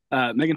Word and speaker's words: M3GAN: Okay, it's just pronounced Megan.